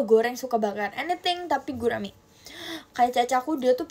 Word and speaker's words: gurame: Bacanya gurame atau gurami. Iat itu menurut kepercayaan masing-masing juga. Iya ya, Guys. Yang benar gurame atau gurami? Gurame. Gurame. Eh, Kak, kamu nulis apa bedanya, Kak?